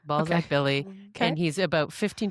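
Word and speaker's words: Balzac: Can you spell that for me, please? B A L Z A C. Ballzac Billy. And he's about 15 to 20 minutes from downtown Calgary in Balszac, Alberta.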